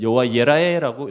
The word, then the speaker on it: 여호와 이레: 여호와 이레는 이 단어는 여호와 예라에라고 읽을 수 있습니다.